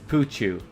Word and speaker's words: Pouchou: We're still trying to figure out how to pronounce his name. It is Pouchou.